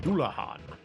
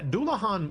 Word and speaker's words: Dullahan: Yeah, Dullahan was a word that I mispronounced for a long time. I used to say Dullahan, but I think Dullahan makes more sense based on the fact that it's like a Irish thing.